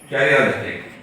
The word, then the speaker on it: karyolytic: Karyolytic. That small breakage of histiocytes. Yes. Small portion. That's it. This is H is silent.